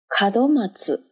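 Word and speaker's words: 門松: ， kado 叫龛多， kado， kado， kadomatsu， kadomatsu， kadomatsu。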